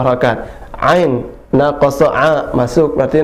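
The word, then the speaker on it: عين: Kemudian ain, nah ini ada nunnya, al-ainu, cara bacanya ain, ya, biasa kita menyebutkan ain, pasti ada nun terakhir, maka di situ didengungkan. Ain.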